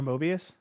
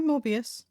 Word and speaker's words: Morbius: Or Mobius? no, Morbius.